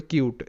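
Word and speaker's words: cute: যেমন একটা ইউনিট এরপরে কিউট সি ইউ টি ই কিউট তো এখানেও কিন্তু ইউ এর পর একটা কনসোনেন্ট এবং তারপর একটি ভাওয়েল আছে তাই কিন্তু ইউ হিসেবে উচ্চারিত কিউট আর এটা যেমন ছিল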